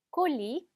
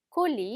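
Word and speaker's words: colis: 라는 단어 같이 있겠습니다 콜리 콜리 a 자 마지막 s 는 발음이 되지 않죠 자 그 다음에 비행기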